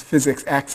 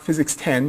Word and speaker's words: Physics X: X is um pronounced physics X is not physics 10 you didn't miss nine lectures and suddenly mucking on the 10th at the room in numeral 10 so it's here we go